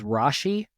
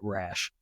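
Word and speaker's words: Rasche: Well, my last name is Rashi, and it's spelled R-A-S-C-H-E. No Z in there? No Sometimes Z they in there. Sneak a Z or CH in there. And there's actually a family of apple farmers in West Michigan that spell their last name the same way, and they pronounce it Rash, just to completely screw me up.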